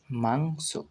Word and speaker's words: মাংস: সা অর্থাৎ হিং সা মাংস ম আকার অনুসার মাংস স দন্তেস অর্থাৎ উচ্চারণ হবে মাংস এইভাবেই তোমরা উচ্চারণ করলে